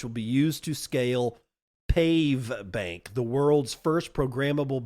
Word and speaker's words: Pave: Pave is spelled P-A-V-E, as in pave it with asphalt.